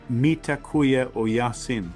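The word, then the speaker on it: Mitakuye Oyasin: In ancient Native American wisdom, uh they have a phrase that's I think pronounced mitakuya o yasin, which is we are all relatives.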